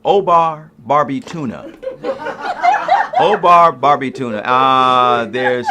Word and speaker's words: Obba: I said, my name is Obba. And he says, what do they call you for short? I said, there is no short. It's just Obba. It's 2 syllables, like Mary, Bobby, Tommy, Johnny, Mary. You can do it.